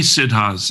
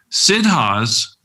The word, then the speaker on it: Siddha: And there have been many Siddhas in the history of India, great, great saints, yogis, sages, who attained the perfection of consciousness. And one of the things about that is that Siddhas attain siddhis.